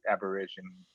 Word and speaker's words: Aborigine: I wouldn't be surprised if there's like some relation to the Australian or the Oceanic Aborigines. Sorry, I don't know how to pronounce that word.